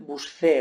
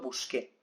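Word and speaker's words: busqué: una cuestión fónica porque si yo conservo este esta letra yo debería pronunciar buscé verdad y lo que yo quiero es conservar el sonido original del verbo en infinitivo buscar el sonido exclusivo que traído acá entonces para conseguir este sonido junto con la tenemos que transformar la grafía hace en el dígrafo de acuerdo busque esa es la explicación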